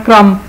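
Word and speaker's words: crumb: इसी तरह क्रम, साइलेंट बी है डब रोटी के चूरे को क्रम कहते हैं।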